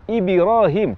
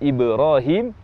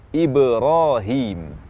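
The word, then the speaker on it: إبراهيم: Atau cenderung ke kasrah, misalnya waktu mengucapkan kata Ibrahim, bunyi qalqalah terucap Ibrahim, cenderung ke kasrah. Seharusnya bunyi qalqalah tidak dipengaruhi oleh harakat-harakat ini, sehingga yang tepat pengucapan Ibrahim, Ibrahim.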